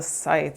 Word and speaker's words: scythe: There's the scythe. Scythe? I said it as scythe, and I had somebody come and correct me and say that it's not, the C isn't, you don't pronounce the C, but everyone else who